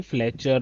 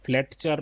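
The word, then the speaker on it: Fletcher: इस पोएम को लिखा है सी फ्लेचर ने। यहाँ पर ये टी साइलेंट है बच्चों, इसको हम बोलेंगे फ्लेचर, फ्लेटचर नहीं बोलेंगे, सी फ्लेचर।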